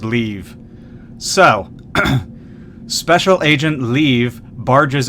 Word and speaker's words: Liev: The guy that's playing Leave pronounces it Liev. Every other voice actor in the game understands that L-I-E-V is pronounced Leave.